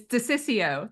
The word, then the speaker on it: DeCiccio: It's DeCiccio. The middle O is silent.